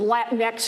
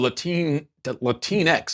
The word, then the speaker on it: Latinx: It's doing great for people who want to invest in private prisons, just not for the African Americans and Latinx whose families are torn apart, whose lives are destroyed, and whose communities are ruined.